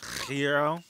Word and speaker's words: gyro: I understand it's pronounced gyro or whatever. Hero. I don't care.